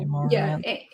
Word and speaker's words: Amouranth: Someone in, Amouranth. Amor as in Amor. Yeah, Ant.